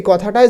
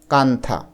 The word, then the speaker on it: কাঁথা: এন টা আসে এবং এই এন এর উচ্চারণ কিন্তু হয় না এজন্য দেখো কাথা এখানে